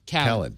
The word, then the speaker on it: DJ Khaled: is it or khed khed well he said that's how he pronounces it is it 50 cents